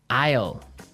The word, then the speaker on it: aisle: spelled so strangely right we don't pronounce the S the S is silent that's true Isle so